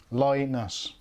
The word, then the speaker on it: Linus: So there you go, that's how to pronounce it. Linus.